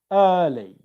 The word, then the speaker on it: early: For example, early. The stress here is on the syllable, it's early. Here it's properly, properly, okay?